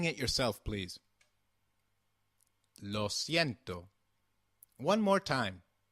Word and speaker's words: lo siento: is los ciento try saying it yourself please lo siento one more time lo siento excellent do you remember what we have seen